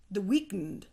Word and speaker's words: The Weeknd: weekend no the 30 the weeknd the weekend no it's like it's just it's just the weekend but without the e why not the third